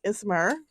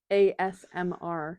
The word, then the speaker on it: ASMR: the microphone ASMR yeah I can never say it I'm always like ismer like I literally can't say it every time I like and then I get panicked and I try to think about how to say it and then I just go ASMR yeah I'm like I'm